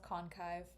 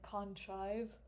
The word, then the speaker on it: Conive: Someone's going to be like conchive because archive is spelled with C H I V. So, it's conive. So, someone's gonna like there